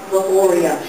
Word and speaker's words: Valoria: As my mother told me when I was 6, tell people it rhymes with Gloria. Valoria.